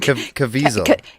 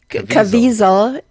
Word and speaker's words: Caviezel: Caviezel. Caviezel from Sound of Freedom and Person of Interest, also The Passion of the Christ, is 55.